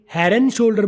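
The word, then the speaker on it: Head & Shoulders: बोल के हेड एंड शोल्डर को मिला के हेयर एंड शोल्डर बोला है।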